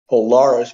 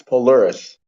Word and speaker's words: Polaris: Polaris I'm saying no it's not Polaris it's Polaris like a polar bear bear okay spell it